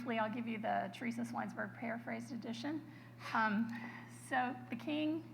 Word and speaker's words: Schweinsberg: Appalachian rednecks, and so they never pronounced the CH in his family. So because you're all adults, well, almost everybody's an adult, I'm going to trust you with this. Now, my high school students, I would never tell them how to pronounce my name like this, but I always tell people Schweinsberg, like pig's town.